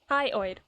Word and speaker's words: hyoid: to tell anyone the hyid bo hyid bone pronounced like hyid hyoid the patient is insistent that the bone is